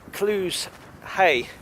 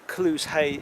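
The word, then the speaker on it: Clusehey: There's an area just down there which is called Clues Hay. It's an odd name. It's spelled C-L-U-S-E-H-E-Y.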